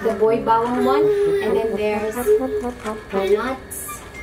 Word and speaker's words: Boy Bawang: It's pronounced Boy Bawang.